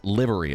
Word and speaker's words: livery: %, short I in yes, livery.